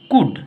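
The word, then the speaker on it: could: sentence को समझते हैं कुड सी ओ यू एल डी इसको सिर्फ कुड बोलेंगे ठीक है एल का उच्चारण नहीं करेंगे इसको शूड एस एच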